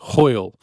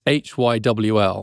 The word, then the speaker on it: hwyl: mind now, which is hwyl. It's Hywl, almost impossible to figure out how you say it, hwyl.